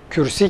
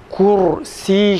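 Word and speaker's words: كرسي: Mesela kürsi kelimesini Türkçe'de kürsi diyoruz, Arapçada da kürsi diyorlar. Fakat onların telaffuzu farklıdır. Buna göre kalın ra harfini telaffuz ederken kürsi kelimesini kursi şeklinde okumamız gerekirken Türkçedeki telaffuz gibi kürsi diyoruz.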